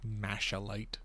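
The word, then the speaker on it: Machalite: Got the Macalite ore I need. Or Mashalite, depending on how you want to pronounce it.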